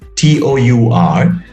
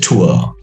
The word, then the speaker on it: tour: as in powder a as in to a t-o-u-r it's not pronounced as tour it's pronounced as tua all right so in all these words we